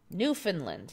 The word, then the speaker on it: Newfoundland: Newfoundland. Yeah, Newfoundland. Mandela Mile is correcting my American pronunciation. Yep. Typical American, we don't know how to say anything. Newfoundland.